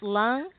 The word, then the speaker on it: Lung: is it pronounced Lung? Lung, yep, just like you breathe with.